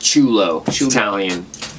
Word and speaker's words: Ciullo: c i u l l o yes it's pronounced chulo yes basically but yeah uh without further ado